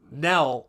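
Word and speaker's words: Knell: Although instead of spelling it ne L, her name is spelled K ne L, like death Nell. So, um, Nell, he tries to rescue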